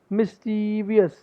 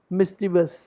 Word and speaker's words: mischievous: ये देखो, while many Americans says mischievous, the actual pronunciation is mischievous, mischievous, mischievous. The confusion lies is in the fact that it's a three-syllable word but appears to have four syllables.